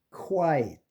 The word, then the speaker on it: quiet: 그 다음에 quiet 이것도 quiet KW로 발음되는 겁니다.